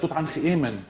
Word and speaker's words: Tut Ankh Emen: First of all, let me tell you that Tut Ankh Emen is the correct way of pronouncing his name, because if you say Tut